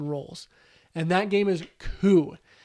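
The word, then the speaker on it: Coup: and that game is cool this game is not pronounced Coop as I thought it was it's cool and what it is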